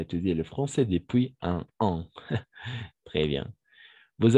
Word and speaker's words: depuis: En el caso de igual de depuis, no se pronuncia la S, Ujú. no se hace la unión si luego toca la vocal, depuis, non, Non, exactement.